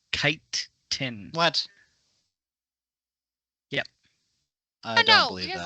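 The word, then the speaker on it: chitin: send you the link there chase it's actually pronounced kite tin what yep i know because like i i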